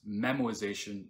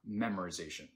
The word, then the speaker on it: memoization: same call again and no I didn't say it wrong it's memoization not memorization memorization will help us